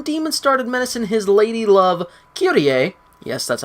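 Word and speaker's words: Kyrie: sword but when demon started medicine his ladylove QTA yes that's how they pronounce it he figured it was time to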